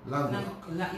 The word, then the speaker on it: Lanquedoc: In Dominica, most people know it's Lando. When I travel, it's Lanquedoc. When I will talk a little about when I lived on St. Kitts, that is how I had to pronounce my surname, Lanquedoc.